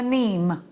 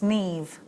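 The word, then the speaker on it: Niamh: her name's actually Siobhan you might be calling her neem her name's Neve and look at my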